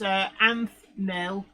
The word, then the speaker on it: Anthknill: But everybody do go and check out Anthnil's YouTube channel, and that's Anthnil, all one word with the silent K in. So it's ANTHKNILL.